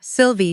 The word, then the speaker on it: Sylvie: voice, about the way he said my name, Sylvie, two syllables, like it was enough.